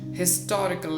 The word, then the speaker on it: historical: several years ago but in modern english historical is pronounced with the her sound and her sound is a consonant sound so do not use